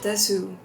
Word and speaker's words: desu: This She didn't say the oo at the end. Wait, why isn't she saying the oo at the end? She's just saying des instead of desu.